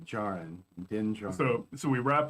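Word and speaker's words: Djarin: of didn't join them it's where it's with a silent d jaren dingell so so we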